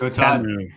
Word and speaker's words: Temu: It's Temu, T-E-H, Mu. And so Todd, you win that one.